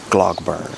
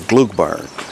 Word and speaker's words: Gloagburn: tractor right here so my American wants me to say glog bur but I just asked an employee and they said it's more Gluk bur is the pronunciation for the farm shop what do we